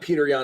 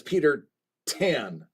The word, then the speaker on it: Peter Tan: It's not Peter Yan, it's Peter Tan. I mispronounced his name.